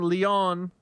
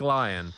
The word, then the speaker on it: Leon: I'll start with the first one from Leon or Lion. It should be Leon, but it's It says in the email that it's pronounced Lion. like lion. Okay.